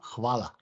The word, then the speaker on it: hvala: I don't want to pronounce it wrongly. You mean in Slovenian? Yes. This, you do hvala.